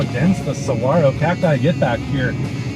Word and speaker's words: saguaro: I mispronounced saguaro on purpose that time to upset one or two people, and I bet it worked. How you like me now? I can also pronounce it as saguaro, the proper way to say it for some. So perhaps I'm not really